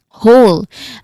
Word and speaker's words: whole: Whole. Uh very easy. It sounds exactly like the word h o l e.